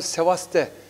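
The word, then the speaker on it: Σεβάστεια: Tabii yani aslında o Sevaste diye okunuyor. Yani Yunan lehçesinde o B kelimesi Sevaste diye bir telaffuz sağlıyor.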